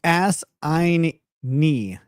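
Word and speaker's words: assignee: Roro Mad says, pronounced ass-ein-knee. Assign-knee. Yeah, that's how I just say that same thing, but faster.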